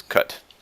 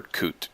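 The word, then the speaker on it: Kut: theater his name was cut the fryer or coot depending on how you say it its k UT y'all good you uh-huh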